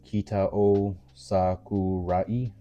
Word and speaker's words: Kitao Sakurai: Kitao Sakurai.